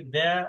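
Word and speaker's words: Д: অনেকটা মিল আছে, কিন্তু একটু কাইন্ডলি একটু ফলো করেন, মনোযোগ দিয়ে দেখেন। হ্যাঁ, ঠিক আছে। আচ্ছা, তার মানে এটার উচ্চারণ আমরা একটা সুপার পাইলাম বা চেয়ার পাইলাম, যেটার উচ্চারণ হচ্ছে রাশিয়ান ভাষায় দ্য।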